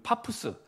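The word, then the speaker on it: Paphos: 이거는 파푸스 이제 영어 발음은 파푸스라는 항구에서 배를 타고 밤빌리아, 아까 말씀드렸죠.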